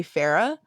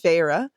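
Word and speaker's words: Feyre: on how I pron I say Farah versus Farah and then I said seral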